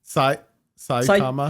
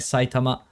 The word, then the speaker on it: Saitama: At least when like Saitama, how do you say it? Saitama or Saitama? Saitama. I mean, you can say it with a bit of a Japanese accent, like Saitama, or you can say Saitama.